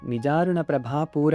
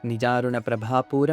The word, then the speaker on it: ನಿಜಾರುಣ ಪ್ರಭಾಪೂರ: ಪ್ರಭಾಪೂರ ಮಜ್ಜದ್ ಬ್ರಹ್ಮಾಂಡ ಮಂಡಲ ಇಲ್ಲೇನಾದರೂ ರ ಅಕ್ಷರಕ್ಕೆ ದೀರ್ಘವನ್ನ ಕೊಟ್ರೆ ನಿಜಣ ಪ್ರಭಾಪೂರ ಅಂತ ಓದಿದ್ರೆ ಅಮಜ್ಜದ್ ಬ್ರಹ್ಮಾಂಡ ಮಂಡಲ ಆಗುತ್ತೆ ಅದು ತಪ್ಪು ಸರಿಯಾಗಿ ನಿಜಾರುಣ ಪ್ರಭಾಪೂರ ಮಜ್ಜದ್ ಬ್ರಹ್ಮಾಂಡ ಮಂಡಲ ಅಂತ ಓದಬೇಕು ಇನ್ನು ಏಳನೇ ಶ್ಲೋಕದಲ್ಲಿ ನವಚಂಪಕ